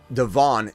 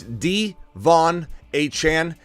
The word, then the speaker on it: De'Von Achane: the release of it it's not even Devon it's D Von a Chan he wanted everybody to correct both ways to pronounce both his first and last name so we're gonna do